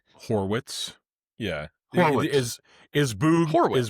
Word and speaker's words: Horwitz: H O R Wii TZ Horwitz. Yeah. Is Is Boo Is Boo pronouncing it Horowits? Why does Boog call him Horowitz every time?